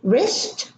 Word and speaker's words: wrist: Wrap, wreck, wrinkle, written, writing, right, ring, right, wrist, wrong, wrestling. In wrestling, there are 2 silent letters, the W at the beginning and the T in the middle.